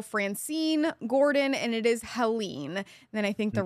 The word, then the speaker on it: Helene: And then we have Beryl, Chris, Debbie, Ernesto, Francine, Gordon, and it is Helene.